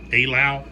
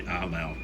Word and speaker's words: Eylau: I say Eylau. I think I've heard it pronounced Eylau. That is, of course, this is happening in Europe, so their pronunciation of vowels and letters are somewhat different than English language.